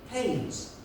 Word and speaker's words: Keynes: And then this woman stood up, she said, excuse me, young man, I know it's spelled Keynes, K-E-Y-N-E-S. But here in the village, we prefer to pronounce it Haynes.